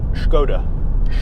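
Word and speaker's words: Škoda: wrong they're having a you're supposed to say I believe as if you're doing about Sean Connery impression so its Skoda gonna mike shaken not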